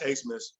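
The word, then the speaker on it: Abmas: dude's name max max asmus uh which i thought was a funny pronunciation since his name is spelled a-b-m-a-s but max a-smith he leads the country in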